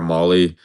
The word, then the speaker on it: Mahle: I was about to say that, yeah, it's I only know how it's pronounced because he was on the Giants, but his name is Tyler Mahle. I thought it was Mahle originally, but when it comes